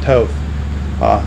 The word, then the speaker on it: Toth: and next to him center and linebacker Scott Toth. Scott, did I pronounce that last name right?